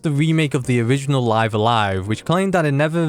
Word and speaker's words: Live A Live: Not Live Alive or Live and Evil, that one might be stretching it. It's actually pronounced Live Alive according to the Nintendo Direct narrator, so I'm going to go with that.